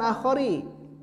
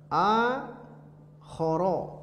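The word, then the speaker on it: أخر: Tapi bukan akhari. Akhara. Dia isim ghair munsharif. Wa fi haditsin akhara, bacanya begitu.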